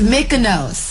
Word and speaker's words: Mykonos: The Kaluna Day, my Kaluna Day is, how you pronounce even Mykonos? It's Mykonos.